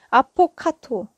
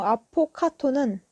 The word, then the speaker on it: affogato: 대신에 아이스크림 들어간 거 아포카토 발음 좀 조심하셔야 돼요 이거 많이 헷갈려요 그 바른 비슷한게 또 있거든요 건강한 과일 중에서 아보카도라는게 있어서 이게 철자도 달라요 제가 얘기하고 있는 음료 아포카토는 affogato이고 과일 아보카도는 avocado예요 아포카토 아보카도 Anyway 어쨌든간에 에스프레소